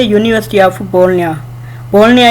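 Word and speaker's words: Bologna: बोलनिया इसलिए कहते हैं जी यहाँ पे साइलेंट है।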